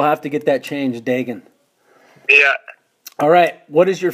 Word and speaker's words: Degen: call me and so it is it pronounced diggin yep okay and never knew that I've always said vegan as well well we'll have to get that changed digging yeah alright what is your favorite setup and